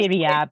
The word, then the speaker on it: Ziryab: Ziryab. He sounds Ziryab. incredible. Yeah. How do you spell that?